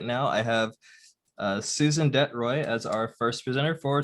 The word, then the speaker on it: de Troy: presenter and right now i have uh susan detroit as our first presenter for today so susan